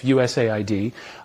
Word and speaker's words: USAID: in today's episode we're going to be discussing us a ID which we will no longer be pronouncing like that it's us a obviously the